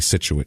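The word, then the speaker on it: Scituate: I've always heard but it spelled s c so it looks like science it looks like SKU but it's actually situ okay uh so we're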